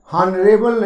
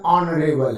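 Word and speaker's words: honourable: हॉनरेबल नहीं है, ऑनरेबल है।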